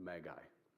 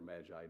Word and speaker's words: Magi: were Zoroastrian monks, priests, the Magi, or Magi, depending on how you want to pronounce it.